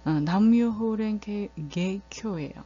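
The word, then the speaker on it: 南無妙法蓮華経: 남묘호랭개교예요. 남묘호랭개교 남무묘법년화경이라는 이제 한자를 일본어로 풀어서 이렇게 일본어로 발음을 하면 남묘호랭개교라는 그런 발음이 되는데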